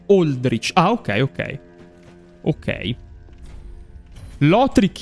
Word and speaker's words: Aldrich: La pronuncia corretta è "Oldrich".